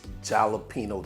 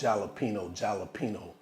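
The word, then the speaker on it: jalapeño: And another thing, guys, I pronounce jalapeno intentionally. So y'all need y'all in the comments always saying the J sounds like an 8.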